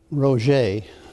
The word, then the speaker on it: Roget: Hi, my name is Roget. Roget is how you pronounce that uncommon name there.